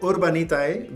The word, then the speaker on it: Urbanitae: So Urbanitae, the Spanish pronunciation for this name, which is urban, letter